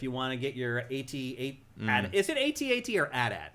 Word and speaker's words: AT-AT: It's been AT-AT since the very beginning. Lucas calls them AT-ATs.